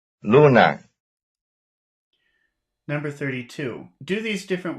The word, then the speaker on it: luna: Sigo, luna. Number 31. Though X and Y are very different, their stress is the same. That is, both are stressed on the first syllable.